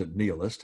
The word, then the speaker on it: nihilist: Stephen Crane who was a nihilist pronounced analyst a man who believes